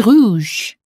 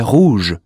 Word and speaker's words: rouge: There's a U in Jules, so the sound should have been U, and there is OU in rouge, so the sound should have been OO. Jules est rouge.